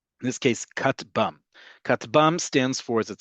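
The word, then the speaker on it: כטבם: Katbam, this one we, um, say as a word. This acronym we say as a word. Most acronyms we pronounce as a word. In this case, katbam.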